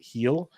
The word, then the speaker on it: Gil: for those keeping or heel L keeping track of home it's Gil but you pronounce it heel um 249 leagues as